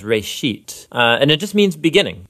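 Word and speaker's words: בראשית: of it's called Genesis Genesis comes from a Hebrew word it's pronounced Ray sheet and it just means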